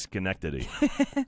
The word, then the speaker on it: Schenectady: No, it's pronounced Schenectady.